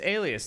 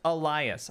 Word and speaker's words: Elias: The name's Alias. Thank you for the tip. The high walls of the castle beckon. Elias? It's spelled like Alias. The name's Elias.